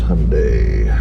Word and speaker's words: Hyundai: other side of this hyundai rhymes with sunday overshot a little bit